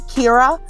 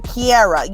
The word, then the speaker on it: Kira: school and uh so they could never say my name kira they did everybody want to make a kiara you know black people